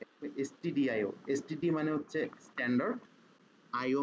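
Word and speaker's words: stdio: এটা অনেক সময় অনেকে এই ভুলটা করে, এসটিডিআইও কে স্টুডিও লিখে ফেলে, উচ্চারণে অনেক সময় সেম দেখা যায়, তো স্টুডিও লিখে ফেলে, সো স্টুডিও হবে না, এসটিডিআইও।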